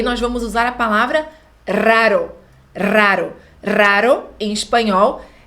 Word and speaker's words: raro: é que a pronúncia o r Inicial forte hara e depois o r fraco bro igual gostei eu encaro arara esse segundo R é assim fraquinho raro treinar e a pronúncia raro então uma comida deliciosa